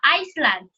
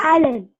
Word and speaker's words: island: of this words this this is not a Iceland this one is Island okay very good Island